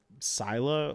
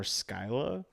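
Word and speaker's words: Scylla: So, it's pronounced either Sila or Skyla depending um modern day it's mostly Sila.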